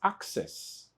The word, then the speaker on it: access: This word is pronounced as access. Access. In other word, it means that the first letter C represent or project the sound K and the second letter C project the sound S.